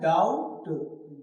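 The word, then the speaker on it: doubt: तो यहां बी जो है वो क्या है? साइलेंट है। ठीक? मतलब लिखना है। डाउट स्पेलिंग कोई कहे कोई पूछे तो बताना भी है। मतलब बताएंगे पूरी। लेकिन जब उसे हम प्रोनाउंसिएशन करेंगे मतलब जब बोलेंगे तो क्या बोलेंगे? डाउट नहीं।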